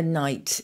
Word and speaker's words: knight: we've spoken before about the silent k in words like a knight in shining armor knitting knock and that kind of